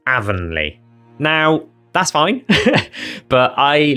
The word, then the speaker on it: Avonleigh: and sound effects, and they pronounce it as Avonleigh.